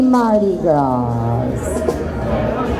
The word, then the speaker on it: Mardi Gras: Happy Mardi Gras. Right? The S is silent.